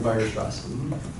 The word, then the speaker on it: Weierstrass: This is how I'm taught to pronounce them, at least. Bolzano and Weierstrass.